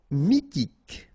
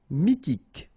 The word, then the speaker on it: mythique: Mythique, remember, Q-U at the end, K, okay, and then Y is pronounced like I, mi, H is not pronounced, T, K, mythique.